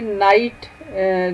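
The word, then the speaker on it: knight: आप देखें कि नाइट जो है इसमें के और जी एच जो है वो लिखने में तो है लेकिन बोलने में नहीं, तो ये साइलेंट हैं या म्यूट हैं।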